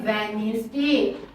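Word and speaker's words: Wednesday: ई एस नेस वनिस जब हम Venice spelling में तो हम डी लिखेंगे लेकिन जब हम प्रोनंसिएशन करेंगे तो डी का जो लेटर हो जाएगा वो साइलेंट हो जाएगा डी इज the silent character in द वेनसडे वेनसडे डब्लू ई डी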